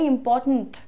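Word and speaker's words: important: very इंपॉर्टेंट correct इंपॉर्टेंट ये ध्यान दो लास्ट वाले पे ध्यान दो इंपॉर्टेंट क्योंकि ट और न के बीच में कोई वर्ड नहीं है there is no other sound इंपॉर्टेंट जो बोलते हैं इंपॉर्टेंट नहीं करना है इंपॉर्टेंट ट और न पे तुरंत स्विच है कोई और उसमें आपको स्वर नहीं डालना है नेक्स्ट देखिए अरे अब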